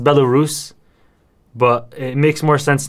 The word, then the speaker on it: Belarus: how it's spelled bella balaras okay it's actually pronounced belarus but it makes more sense now because i